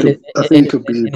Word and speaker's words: Khabib: I think Khabib will win. And he said yesterday he want everybody to get his name right. It's Khabib. The K is silent. It's Khabib.